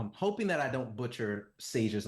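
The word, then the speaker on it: Saje: I'm hopefully not, I'm hoping that I don't butcher Sage's name. I believe it's spelled S-A-J-E, but I believe they pronounce it Sage.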